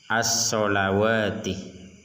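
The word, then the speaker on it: الصلوات: Nah, di sini ada alif kecil. Nah, ini bukan harokat fathah, tapi huruf alif kecil yang menandakan bahwa wawuhnya ini dibaca panjang. Satu alif, as-sholawati.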